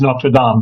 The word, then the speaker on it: Notre Dame: but it seems like when it's an actual church as opposed to the university, I should say Notre Dame. Is that the preferred pronunciation? Yes, all the more so because we're the French community, the French-speaking community for the Archdiocese of New York, so it is Notre Dame, very definitely.